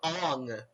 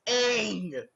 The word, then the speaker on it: Aang: They kept calling him Ong. Are you kidding me? It's Aang.